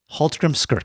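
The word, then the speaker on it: Hallgrímskirkja: to it's going to be halt Grim skira Hal Grim skira yeah I know I know and it's it sounds ex nowhere like it's spelled okay so but it's the big famous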